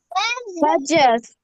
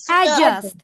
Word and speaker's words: adjust: Adjust. Adjust. Adjust. D লেটারটা pronounce করব না। জি এর জায়গায় একটা স্ট্রেস দিব। Adjust.